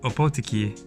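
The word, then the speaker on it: Ōpōtiki: I think opotiki that's where we're going it's pronounced opotiki and the only way I know that is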